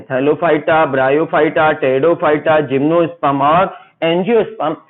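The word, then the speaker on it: Pteridophyta: तीसरा है टेरिडो, पी से स्टार्ट होती है, पी साइलेंट रहेगा, टेरिडोफाइटा।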